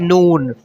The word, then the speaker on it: نون: N O O N, N O O N, noon, like non, non Muslim or non-Muslim, non. It's don't forget it example, non. Okay, non. It's some difference. This word is noon, afternoon, good afternoon.